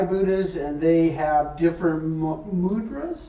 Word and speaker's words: mudra: And these are Thai Buddhas, and they have different mudras. Mudras, is that how you say it?